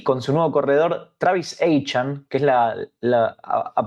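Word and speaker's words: Travis Etienne: debe estar contento y con su nuevo corredor Travis An que es la la a partir de ahora así se pronuncia a quien conocíamos como Travis Etien, ahora pasa a ser Travis aan dicho por él mismo.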